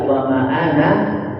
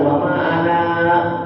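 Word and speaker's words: وأنا: Ya, makanya kalau membaca w ana minal musyrikin ya. Jadi ana itu tidak boleh dipanjang-panjang dipendekkan saja. W ana minal musyrikin bukan wama ana.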